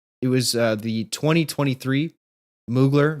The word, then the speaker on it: Mugler: was uh the 2023 moogler video mugler If you pronounce it the way that the voiceover does it in the music and at first it